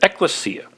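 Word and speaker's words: ekklesia: the Greek word eklesia in the past I pronounced it differently but eklesia that Greek word eklesia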